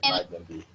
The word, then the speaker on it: Magendie: Y el del centro, que se pronuncia exactamente ese, Magendie.